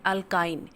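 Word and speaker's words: alkyne: इसे अल्केन, अल्कीन एंड अल्काइन, pronunciation के ध्यान रखने, अल्केन, अल्कीन ENE और अल्काइन YNE।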